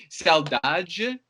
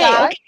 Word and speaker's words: saudade: Saudade. Yes. Oh, okay. Saudade.